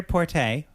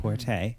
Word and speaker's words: Porte: So it stars her, Peter Porte, which I learned that's the proper spelling, pronunciation of his name, Porte. Not Port. Not Port. Not Porty.